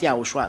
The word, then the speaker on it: YAHOSHUAH: It's good then if you pronounce YAHOSHUAH, not Jesus, but YAHOSHUAH.